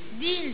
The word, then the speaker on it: değil: okuruz değil diye okuruz şimdi bu değil diye okunuyorsa ses olayan dolayı Çünkü şimdi e harfi i harfinin arasında yumuşak ürede arasına yumuşak geldiği zaman önündeki sesi uzatır bunu kaldırır bu da değil olur Türkçede Tabii konuşmanın üzerine